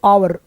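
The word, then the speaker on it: hour: वो है और इसका ईयर साइलेंट है।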